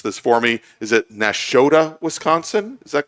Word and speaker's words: Nashotah: You'll have to pronounce this for me. Is it Nashotah, Wisconsin?